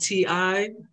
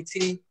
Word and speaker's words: Ti: my name is t it's spelled ti so everybody most people call me ti but it's really tea either way is fine but you know anyway